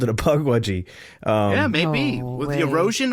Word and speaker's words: Pukwudgie: How do you pronounce it? Is it Pukwudgie or Pukwudgie? It's supposed to be Pukwudgie.